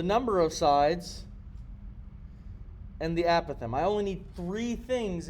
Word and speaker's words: apothem: And the definition of an apothem, an apothem, sorry, there's like two different ways to pronounce this thing. I've been saying apothem for years, but I've found out just last